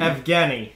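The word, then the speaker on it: Evgenii: dad enough okay yes again F Jenny I'd like if Jenny Malkin but it's F Kenny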